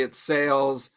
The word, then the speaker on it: Sailes: the name come from no it's just simply sale spelled with AI instead of just an A okay gotta you just